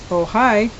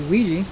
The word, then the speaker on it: Ojai: how to pronounce this, if it's pronounced like in Spanish, Ojai, or it could be Ouija, but it's Ojai, California. Every year, thousands of people